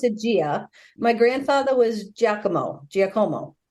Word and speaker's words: Gia: you really tell us your name I've always pronounced a Gia my grandfather was jako Jomo oh Italian yeah